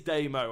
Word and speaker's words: Damo: And Damo, it is Damo. I was saying it right in the first place, so I'm very happy with that.